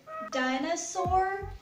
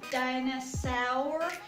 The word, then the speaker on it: dinosaur: And another example that can be very challenging to pronounce is dinosaur. So it's not dinosaur, it's not dinosaur, it's dinosaur. So just keep in mind,